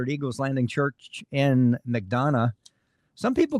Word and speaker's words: McDonough: I think it's McDonough.